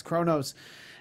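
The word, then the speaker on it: Qo'noS: It's spelled Quonos. I had the closed captioning on when I was watching it, so it's with the Q, and but it's Kronos, and so they did a good job explaining it.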